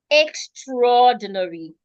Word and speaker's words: extraordinary: Now remember that this word normally is supposed to be extra ordinary. But when we pronounce it, the A doesn't say anything.